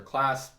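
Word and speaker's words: Claise: literally just my name class it's spelled real real weird and then c-l-a-i-s-e i'll be linked to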